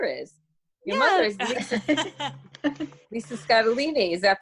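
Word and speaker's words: Scottoline: Your mother is Lisa Scatolini. Is that pronounced right? Or absolutely, like fettuccine.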